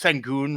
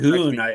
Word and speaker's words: Şengün: I know I'm saying it's Sengun, right? Or Sengun. Yeah. I say his name wrong every single time. It should be Şengün.